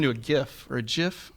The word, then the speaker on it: GIF: a gift or a jiff is it pronounced jiff it's gift a gift well the creator